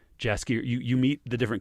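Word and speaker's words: Jaskier: to the the audiobook i was hearing the pronunciation of jasper you you meet the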